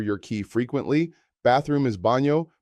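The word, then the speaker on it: baño: Bathroom is bano pronounced baho. The yan makes a NY sound like the NY and canyon.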